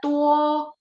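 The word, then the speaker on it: 多: Sehingga tuo D baca T. Nada 1. Tuo ya banyak.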